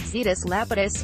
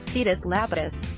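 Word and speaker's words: Zetus Lapidus: debated but was it Cetus Lapidus for Cetus Lapidus didn't she go see this Lapidus it's a Z but she's pronouncing it with an S see this Lapidus right yeah when I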